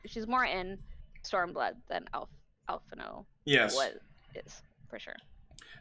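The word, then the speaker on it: Alphinaud: even the name oh open on alphano it's alphano yeah i pronounced it right the first time you pronounced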